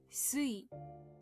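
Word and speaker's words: 水: The reading changes and sui, it is pronounced sui.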